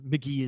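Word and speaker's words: Mk.gee: And McGee is basically like, he's definitely, I would say he's number one on the next up in the world of alt/pop/rock, you know?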